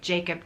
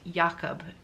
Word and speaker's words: Jakob: i believe it's pronounced Jakob in though I think I think he answers to both but I think in Dutch you pronounce the J like a yeah instead yeah which was you